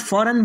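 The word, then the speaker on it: foreign: इसके बाद का नेक्स्ट रूल है, जब जी के बाद एन आ जाए तो जी साइलेंट होगा। यानी जी के बाद फ़ौरन बाद एन आएगा तो जी साइलेंट हो जाएगा।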